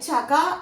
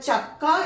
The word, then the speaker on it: ചക്ക: ഇപ്പൊ ചക്ക എന്ന് എഴുതുമ്പോഴും ഇങ്ങനെ എഴുതിയിട്ടുണ്ടെങ്കിൽ അത് ചക എന്നേ വായിക്കുള്ളൂ, ഗായായിട്ടേ വായിക്കുന്നത്. അപ്പൊ ചക്ക എന്ന് എഴുതണമെന്ന് വെച്ചാൽ ഇവിടെ ഇരട്ടിപ്പ് തന്നെ വരണം. അതാണ് ഇതിന്റെ ഒരു മനഃശാസ്ത്രം.